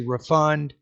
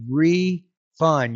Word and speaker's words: refund: If you say refund, uh, that's going to be a verb there. So, I think you want to say refund. You need to make that stress, that first syllable more stressed than the, uh, second one.